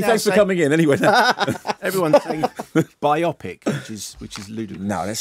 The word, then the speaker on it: biopic: you say that how do you say biopic biopic exactly exactly thank you very much there we go thanks Eddie thanks for coming in anyway biopic now this sounds like cut song away you're